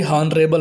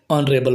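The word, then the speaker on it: honourable: लिखा हुआ है कि ऐसे वर्ड में एच साइलेंट हो जाता है और हम इसे हॉनरेबल ना पढ़ कर के नरे बल पढ़ते हैं और उसके ठीक पहले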